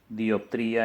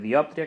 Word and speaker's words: diòptria: Errors aïllats o poc significatius, com per exemple pronunciar període en lloc de període, dioptria en lloc de diòptria, que són les paraules adequades, etc.